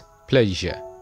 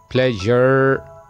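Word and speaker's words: pleasure: Well our next word is प्लेजर, ऐसा word जिसके आखिर में एस यू आर ई आ जाए, उसकी आवाज य। दोस्तों जैसे कि मैंने पहले आपको बताया कि आर से पहले अगर वावल साउंड आ जाए तो आर की आवाज ऑलमोस्ट साइलेंट हो जाती है, लेकिन यहां पे ई ऑलरेडी साइलेंट है क्योंकि वो साउंड में नहीं आता। Okay, so the word is प्लेजर, इट इज नॉट प्लेजर, नो।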